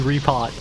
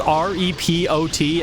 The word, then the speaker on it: repot: Or for whatever reason, my dumb ass always pronounced it repo. Don't ask why I pronounced R E P O T as repo. But in my mind, it was always BRB repo. Doesn't make any sense. It's obviously repot cuz Home Depot.